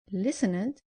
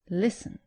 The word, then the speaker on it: listened: And avoid saying listened, say listened. The less common mistake is not pronouncing the id clearly at the end of verbs ending in t or d.